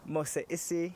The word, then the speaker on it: Mose Issie: I'm here with the lovely, aka Mose Issie. Did I say that right? Yes. Is that good? Like, yes. good pronunciation?